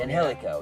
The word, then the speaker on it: Angelico: Is that how you say it? I always have trouble Something with that like name. that. It is. It's Angelico. Angelico. Angelico, yes.